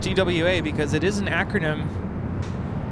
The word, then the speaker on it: TWA: down to far left yeah TW wa is pronounced TW wa because it is an acronym transor yeah so no you would not say twah all in the pawn Airways is an acronym